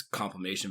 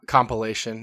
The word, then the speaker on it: compilation: So there's no like all these complation videos, so I had to really kind of dig and watch a lot of ESPN compilation, not comp compilation.